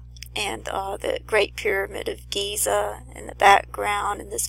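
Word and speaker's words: גזע: It means a stalk of a tree, and that word is Giza. It's pronounced just like the Great Pyramid of Giza, and Strong's number 1503,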